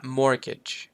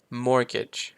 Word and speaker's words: mortgage: เช่น กัน ต่อ มา mortgage mortgage ตัว T ก็ จะ หาย ไป เนาะ mortgage แปล ว่า จำนอง ได้